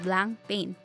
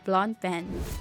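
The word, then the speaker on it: Blancpain: check your pronunciation or you'll get face laughs if you refer to it as blank pain its pronunciation is blonde pen number 16 bomb a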